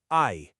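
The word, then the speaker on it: 愛: The kanji character for love is pronounced ai.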